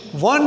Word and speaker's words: one: A university means one university out of so many. Similarly, a one-way road. O-N-E, one-way road. One-way road begins with vowel O, but it is pronounced with consonant sound one way.